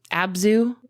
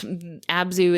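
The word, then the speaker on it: ABZÛ: Abzu is a favorite of both of ours.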